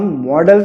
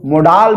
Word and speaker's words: modal: इसको बहुत से वीडियो में आप लोगों ने प्रोनाउंसिएशन करते हुए मोडाल भी सुना होगा। इसको मोडाल भी कई लोग प्रोनाउंसिएशन करते हैं, परंतु मैं इसको मॉडल्स के रूप में पढ़ाऊंगा, मॉडल।